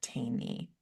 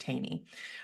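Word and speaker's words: Thoene: and I love Bodie and Brock Taney, is how you say Oh, their I don't name. know them. It's spelled Thone. Might be a Yeah. British thing, I don't know, but it's pronounced Taney.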